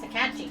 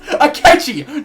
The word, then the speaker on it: Akechi: It's Akachi. Oh, the next section. No. Goro Akechi. That's what I said. You said Akachi. Tomatoes, potatoes. Akechi is tomatoes. pronounced Akechi, not Akachi.